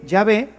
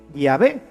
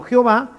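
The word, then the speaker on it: Yahvé: llave y por eso nosotros sabemos que la pronunciación correcta de llave es así llave y no jehová que simplemente una una litera ción se fue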